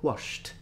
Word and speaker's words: washed: Wash, there is SH sound, so washed.